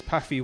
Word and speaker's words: Paphy: Paffy we're going to be working on. We are Paffy. That's spelled Paphy.